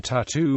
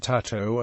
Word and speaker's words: tatau: lines although other Polynesian tattoo motifs do early Englishmen mispronounced the word tatau and borrowed it into popular usage as tattoo traditional tattooing is a